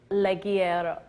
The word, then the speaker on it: Ligero: Ligero. Ligero. You didn't roll your R, but he did. I didn't roll my R I correctly. wish you guys so. could hear Tom. He Yeah. rolls his R You so got it nicely.